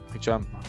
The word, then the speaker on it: Hicham: How do you pronounce Hikam or Hicham? Hikam. How do you pronounce this? Hicham Kantar. Hicham.